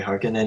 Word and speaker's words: Harkonnen: How do you pronounce that? That's correct. Okay, Harkonnen, and then House Atreides.